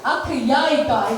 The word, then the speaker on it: Akhyayika: The pronunciation has to be very specific. She said it to me in the beginning itself. Make akh yaika, exactly.